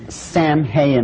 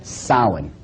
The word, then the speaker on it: Samhain: as if it's saying samhain or something like that no no no this is properly pronounced in the ancient gaelic as sowing saul according to occult